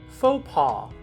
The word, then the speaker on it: faux pas: Many will accidentally pronounce the phrase faux pas. I believe this error often comes down to the fact that some people have not seen the phrase written and have only heard it.